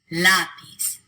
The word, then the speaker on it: lápiz: All 4 of those words end in a consonant other than N or S. They should be pronounced with the stress on the last syllable, but they're not.